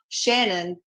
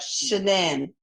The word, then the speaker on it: Shannan: I And you wanted it pronounced not Shannon, but Shannan, right?